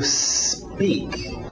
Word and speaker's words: speak: Cuidado com essa pronúncia. A tendência desse S antes do P, quem fala português, é querer colocar uma vogal de apoio, dizer to speak, porque a nossa letra S tem um E na frente, speak, ok?